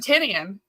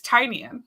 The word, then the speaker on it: Tinian: You and I pronounced Tinian wrong for 10 years or something. Right. What were you saying? We said Tinian. It's Tinian.